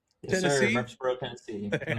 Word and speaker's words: Murfreesboro: Is that how you pronounce it? Yes, sir. Murfreesboro, Tennessee.